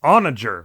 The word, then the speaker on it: onager: i meant to say i looked up the pronunciation of that catapult thing with the boulders and it's onager which i would never have ever expected so